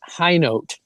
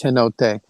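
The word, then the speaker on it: Hinote: Yeah, she pronounces it Kate Highote. And when I first saw it in when I first saw it in print, I thought it was Henote.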